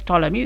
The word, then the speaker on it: Ptolemy: We pronounce as Ptolemy. It should be, the P should be silent here.